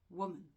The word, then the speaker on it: woman: So if you look here, woman is actually 2 syllables. And the stress is on the first part, woman. And so we have the accent mark here, just after the first syllable, or the one that you have to stress, which indicates that this